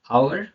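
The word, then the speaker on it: hour: ओ के पहले आया एच साइलेंट होता है, ओ के पहले आया एच साइलेंट होता है। चलिए एग्जांपल देखते हैं। ऑनर, honest, आवर, इको।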